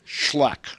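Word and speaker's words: Xcalak: a l a k x c a l a k pronounced schlack schlack right i get a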